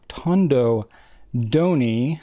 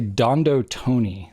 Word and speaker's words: Tondo Doni: I always want to say Dondo Tony. They sound so similar. It's like when you don't really know how to pronounce something, you're like, well, D and T sounds similar enough. I'll just say like Dondo Tony, and you won't really know which one I said which way.